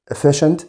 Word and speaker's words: efficient: وخلي بالك بقى عكسها او بتساويها السينونيم بتاعتها efficient دي برضو CIA بنطقها زي صوت الشاه كده، معناها برضو فعال او مؤثر.